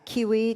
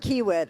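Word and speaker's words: Kiewit: Curtis Stainer is solutions architect information architect manager at uh Kiwi Technology Group. Did I say that wrong? How do you say it? Stoniker and Kiwit.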